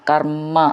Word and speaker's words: കർമ്മ: നാവുള്ള ചിഹ്നം ശ്രദ്ധിച്ചോളൂ സ്വകർമ്മ കർമ്മ എന്ന് ഒന്ന് ഊന്നി പറയണം രണ്ട് മ എന്നുണ്ട് പുംസാം സാം എന്നുള്ളത് ദീർഘം